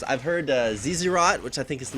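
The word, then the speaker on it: Zz'Rot: And then Kobe on LCS actually pronounces it Zerat portal, which I think is probably a little bit closer. But I don't think you're supposed to say both Z's.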